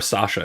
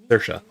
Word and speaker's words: Saoirse: Don't call her Sasha. She'll yell at you. Saoirse. I'll even type it out. That is how you spell that. It's an understandable mistake, frankly, but don't make it in front of her.